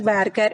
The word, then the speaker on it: varchar: One is char, char means character, and second is varchar. It is pronounced as varchar, not varchar.